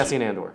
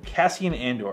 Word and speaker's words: Cassian Andor: Cassian Andor. Cassian Andor.